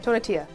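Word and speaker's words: Tonatiuh: Tonatia.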